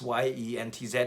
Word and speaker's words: Jens: And I know he's Danish, so it's pronounced Jens. I say Jens, but it's pronounced Jens, and it's actually spelled Jens, like Jens, but it's Jens. But I've always known him as Jens, and even on my phone it says Jens, Yentz.